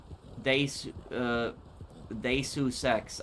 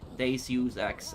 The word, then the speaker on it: Deus Ex: Deus Ex. Okay. Deus Ex. Okay. That's how you pronounce it.